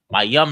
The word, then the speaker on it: Mayam: It's M-A. Ma, then is Y-A-M-A, but you take the A off at the end. So it's Y-A-M. So it's M-A-Y-A-M. Mayam. The Y-A and the M is connected. So it's yum. And the ma is at the beginning. Ma, yum.